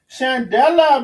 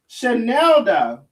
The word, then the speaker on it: Chanelda: Chandela, baby, is bike. Hold on now. Baby, Chandela is bike. Chandela is bike, honey. Chandela. Oh, wait, I said her name wrong. Chanelda.